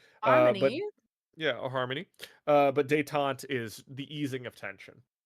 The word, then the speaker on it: détente: But détente is the easing of tension.